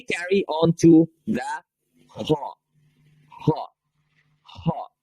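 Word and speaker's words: ح: Ha. Ha. That letter is pronounced as ha.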